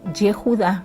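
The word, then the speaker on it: יהודה: Entonces, prácticamente el nombre de Judá o de Yehudá, como se pronuncia en hebreo, significa alabanza.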